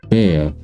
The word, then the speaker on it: Bär: on top is that it sounds like an e so like a and a for example bear is well bear with a B A